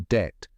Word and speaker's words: debt: pronunciation didn't change so now we write the B but don't say it talk about a spelling